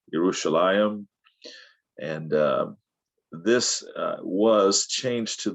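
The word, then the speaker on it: ירושלים: salam uh yerushalayim or now pronounced in many ways in hebrew yerushalayim and this was changed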